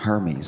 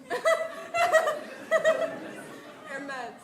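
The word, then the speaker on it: Hermès: Spent money on Hermes. I didn't even know what Hermes was. Luxury bags. Air meds.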